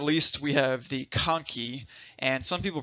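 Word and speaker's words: conchae: then last but not least we have the konkey and some people pronounce this conch a that that's fine a lot of your textbooks though actually show the proper enunciation is konkey so we have us we have superior middle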